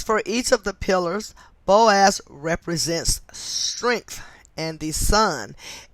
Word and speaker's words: Boaz: digit two they are the two pillars of boaz and jayton so i'm gonna spell those just in case i mispronounced them but um these temples are in the bible b-o-a-z and j-a-c-h-i-n boaz and jachin which were once